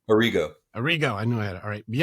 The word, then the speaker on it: Arrigo: Arrigo.